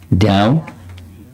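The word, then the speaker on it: Dyau: Although the Rishi had granted that they could soon return to heaven, he ordered that Dhyau, how do you pronounce his name? D-Y-A-U. Dhyau.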